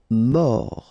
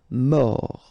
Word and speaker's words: mort: Mort. Final T not pronounced. O-R, or. Mort.